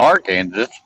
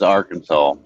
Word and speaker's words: Arkansas: Arkansas. Arkansas. Our Kansas. Hey, Papa Smurf. Welcome in. That's what I said. I never heard of our Kansas.